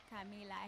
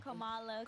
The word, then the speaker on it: Kamala: Camila Harris. Trump. Wait. You said it wrong. What's her name? You said it very wrong. Kamala.